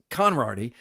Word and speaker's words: Konrardy: So I had said Konrardy in my voiceover, and Mark Freund said to me, no, it's Konrardy. And also Mark Woodley said, I think it's Konrardy. So we went to the pronunciation guide, and it's Konrardy.